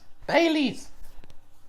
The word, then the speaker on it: Baileys: irish cream liqueur well it starts with the b and it rhymes with melees baileys yeah or if you're